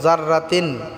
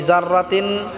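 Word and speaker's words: ذَرَّةٍ: এক আলিফ টানে পড়বো জাররাতিন জাররা জাররা বললে হবে না জাররা পাতলা হবে জাল উচ্চারণ করতে হবেন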